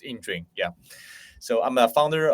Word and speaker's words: Yingjun: everyone and um well my name is ining and I know that right is kind of like like uh challenging for some of guys to pronounce my name right for it's it's ining yeah so I'm a